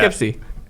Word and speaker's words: Poughkeepsie: Poughkeepsie.